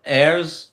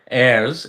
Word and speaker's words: Ayers: Is Jackson Dart and his model girlfriend Marissa Ayers, I think it's Airs I think he's pronounce it Airs, the new Ken and Barbie?